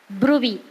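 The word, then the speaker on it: bruit: is palpable for thrill and Audible for the Brey it is b r u but we call as Brey pronunciation is Brey that is we can feel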